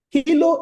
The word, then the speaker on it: Helo: The name of the application is Halo Smart. Hilo is spelled H-E-L-O, Hilo Smart.